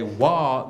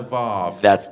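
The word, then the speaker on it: Waw: But it is a Wah, not a Vav.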